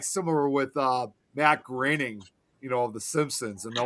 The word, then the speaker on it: Groening: It's kind of like similar with Matt Groening, of The Simpsons, and a lot of people always thought his last name was supposed to be pronounced Matt Groening.